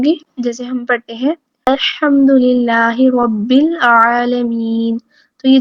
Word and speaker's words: الحمد: کی ہے کہ الحمد جو درست تلفظ ہے وہ کیا ہے؟ الحمد للہ، تمام تعریفیں اللہ ہی کے لیے ہیں۔ لیکن اگر اس کو الحمد پڑھ دیا جائے، ہا کو واضح نہ کیا جائے، تو اس کا